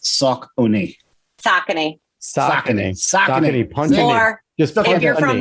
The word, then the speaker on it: Saucony: I'm just beyond grateful that we all know how to pronounce Saucony. Saucony.